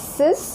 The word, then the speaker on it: six: is five is sank six is pronounced as cis seven set eight weak